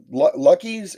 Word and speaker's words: Luqui: Well, and the only other one that's close to done for Lance is Lucky's, and Lucky is spelled Luqui.